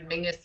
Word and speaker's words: Menzies: That, for anybody else, Mingus is how weirdly the Scottish people, that's how they would pronounce Menzies. I don't understand where the G comes out of it, but it is a little weird, yeah.